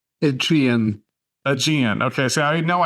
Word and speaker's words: Aegean: So I know it's one of those words when you think you get it wrong, even when you say it right, you can never wrap your brain around it. So say it with a British accent and it always sounds right.